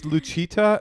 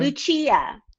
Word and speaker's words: Lucia: Does Luchita, is that how you say it? Is that her name? Lucia.